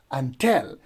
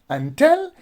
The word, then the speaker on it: until: you will pronounce it until because the stress goes on the second syllable that is until not